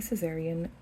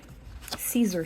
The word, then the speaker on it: Caesar: And if you want a visual, here is a Caesarean wheel. Caesar cipher. I've been mispronouncing it.